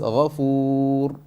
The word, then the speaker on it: غفور: Ghafoor, not Ghafoor. Don't go over the limit. Just Ghafoor, only a little bit.